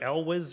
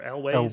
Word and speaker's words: Elwes: There's a part where Carrie, how do you say his name? Carrie Elwes or Elways or whatever. No, it's Ewells.